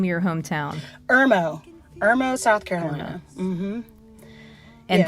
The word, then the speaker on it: Irmo: do you say the name of your hometown Irmo hermo South Carolina mhm and there were musicians